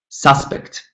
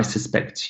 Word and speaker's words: suspect: for example, or suspect, if the word is a noun, suspect, then the stress falls on the first syllable. But if it's a verb, suspect, I suspect you, I suspect you, then the stress falls on the second syllable.